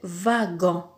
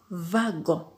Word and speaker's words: wagon: Alors, première prononciation, quand la lettre W est suivie de la voyelle A, dans ce cas, elle peut se prononcer va, va. Comme par exemple dans l'exemple wagon, un wagon, wagon.